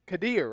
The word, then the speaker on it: Kadir: Thanks for saying my name correctly. Kadir, right? Yeah, that's how I've been saying it.